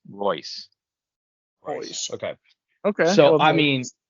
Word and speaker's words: Reus: Isn't it Reus? Okay. Correct, but the way to pronounce it is Royce. Royce.